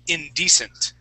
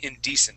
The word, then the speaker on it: indecent: here that I'm highlighting that word is indecent indecent good with that accent right on this uh this first e okay indecent nice job okay other